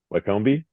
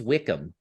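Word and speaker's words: Wycombe: for yeah yeah Justin how would you you pronounce this Wy c m b e Waki yeah see it's closer to me than to the rest so I said Waki I said wak comi because of The Wanderers uh but apparently it's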